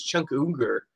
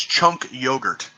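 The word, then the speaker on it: Cenk Uygur: comment maybe it was Chung Cougar they the host of The Young Turks sorry if I'm mispronouncing his name I can never get it right it's uh it's chunk yogurt chunky yogurt yes chunk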